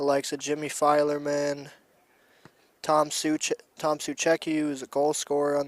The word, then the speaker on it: Suchecki: The likes of Jimmy Filerman, Tom Suchecki, who's a goal scorer on the night. Oh, Suheski, okay. No, that's the Polish pronunciation.